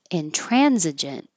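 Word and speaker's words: intransigent: much different acrimonious acrimonious in transigent inrent so this um G sounds like a j but it is spelled with a g in the word gentlemen so if that makes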